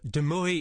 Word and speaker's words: de Mooi: Um, Deoy is the correct pronunciation, but Deui is perfectly fine.